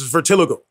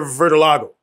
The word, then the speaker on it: vitiligo: if you pronounce it when the doctor told me he goes it's vertiligo that's how he pronounced interesting but I hear vitilago yeah yeah right so